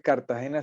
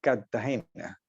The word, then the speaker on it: Cartagena: la r intermedia entonces un cartagenero típico no dice Cartagena sino Cartagena como si fuera con doble t Cartagena y y pronuncia muchas